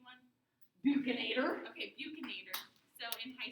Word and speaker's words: buccinator: How do you pronounce the B one? Buccinator.